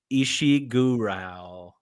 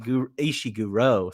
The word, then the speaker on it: Ishiguro: on a novel by kazua isi gural ishi ishiguro sorry gosh I even wrote down the pronunciation for that so Kazo kazuo ishiguro got it nailed it all right